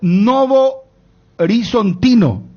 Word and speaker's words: Novo Horizontino: Oscar Ruiz transferido al Novo Horizontino, perdón. Segunda de Brasil. Oscar Ruiz de Jatacuarí va al Novo Horizontino.